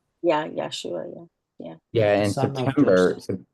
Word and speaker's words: Yeshua: I just want to make sure um that I Yesua is spelled Y E S H U A. Yeah. Yesua.